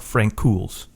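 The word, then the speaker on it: Francouz: got interesting because Frank Frank K Frank pavl Frank KS that's how you say it yeah yeah Frank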